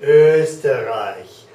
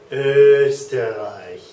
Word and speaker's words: Österreich: Okay, the O umlaut, like in Österreich. Österreich. That's that sound, eh, Österreich.